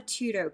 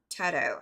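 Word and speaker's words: Tuto: Um, so I have a Tudo case or Tedto, however you pronounce it. I've always pronounced it Tudo because that's how the people who sold it to me pronounced it. Um, it's T U T O.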